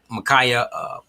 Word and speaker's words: Ma'Khia: was dealing with the Ma'Khia, I believe that's pronounced, Ma'Khia police murder by the police in Columbus, Ohio.